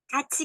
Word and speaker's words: 같이: Jadi di sini peraturan pelafalannya, apabila suku kata berakhiran diget atau tiet, dan diikuti dengan vokal I, maka diget atau tiet itu dilafalkannya dengan J atau C. Jadi jiet atau ciet.